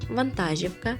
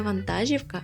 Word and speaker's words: вантажівка: який наголос неправильний разом вантажівка жевріти правильно казати не Вантажівка а вантажівка він тримав обіцянку нікому